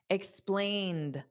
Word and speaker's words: explained: teacher, dada, explain, da, explained. Now, the e d is just pronounced as a soft d. Explained. So, the ed does not add an extra syllable.